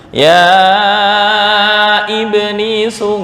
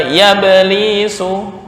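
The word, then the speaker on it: يا إبليس: Sama dengan ya iblisu, nggak boleh dibaca ya belisu, bukan ya belisu tapi ya iblis.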